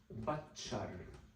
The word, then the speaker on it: Batchar: While in Jubadian, J, it is pronounced Batchar. And we see this in many Syrian or Levantine dialects where sometimes the ka sound, if you go to more rural areas, can sometimes become a cha sound.